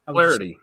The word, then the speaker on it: Flaherty: Flaherty. Yeah. Flaherty. See, I got it right. See, I thought I was being too Southern there. Flaherty. One syllable.